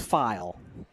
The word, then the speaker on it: File: I asked him how he pronounces his name. His last name is File.